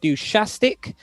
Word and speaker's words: Dushastic: So up next, I believe we have Dushastic, that's how you pronounce his name, coming from Russia, versus Yelling Punk, also from Russia.